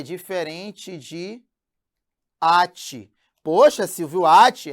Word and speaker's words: ate: Nós temos aqui, ó, até, que é diferente de ate. Poxa, Silvio, ate? É, irmão. Aqui, ó, até e ate. Até é uma oxítona, vamos já ver isso, e o ate é uma paroxítona.